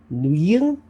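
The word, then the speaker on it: Nguyen: as I can tell the pronunciation is something like new yeah um but uh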